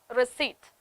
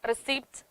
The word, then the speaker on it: receipt: receipt buffet and bokeh these are the words this is how we pronounce it in english but what happens is when you speak it in in malayalam uh automatically you start pronouncing all the letters we start saying honest